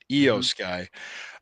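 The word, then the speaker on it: IYO SKY: me I never pronounce her name I is pronounced e sound for some reason EO side okay EO Sky uh she went over by pinfall to retain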